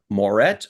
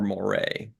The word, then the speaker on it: Moret: You'll have to help me with the name pronunciation. Jim Moret or Moray?